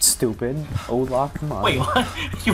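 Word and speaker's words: Hola: Yeah, that's how you spell it. It's pronounced Ola.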